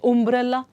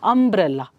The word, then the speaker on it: umbrella: it you it's a example umbrella do you say umbrella no so letter is you but the way you pronounce it umbrella up because this is